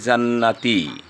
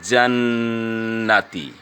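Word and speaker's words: جنات: যদি কেউ বলে জান্নাতি তাহলে তার উচ্চারণ হলো, কিন্তু সে সঠিক শুদ্ধ করে উচ্চারণ করতে পারেনি। এখানে নুনের উপর তাজদিদ থাকা মানে গুণনা করা ওয়াজিব। যেমন আপনার উচ্চারণ হবে জান্নাতি।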